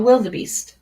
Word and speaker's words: wildebeest: uh Wild beasts a wildebeest oh so this one here is a duh even though like most of the time you don't pronounce this um short or the E so wildebeest you have endured a